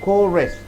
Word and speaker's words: chorus: Chorus, so CH you pronounced as chorus, the phrase repeated throughout a song or a poem.